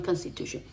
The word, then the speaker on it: constitution: capítulos anteriores lo verán muchos de nosotros queremos decir sh pero no es o no no se dice Constitución es como si fuera una e constitu constitution fíjense la boca como está cerrada constitution education constr t i o n sh sh no sh shen la Constitución es la